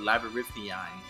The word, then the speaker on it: labyrinthine: Good on you for saying the word labyrinthine. Nope. I guess I said that wrong. No, you said it right. Oh. I said it wrong. Labyrinthian? Yeah.